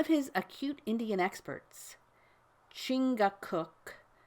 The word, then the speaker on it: Chingachgook: For instance, one of his acute Indian experts, Chingachgook, pronounced Chicago, I think, has lost the trail of a person he is tracking through the forest.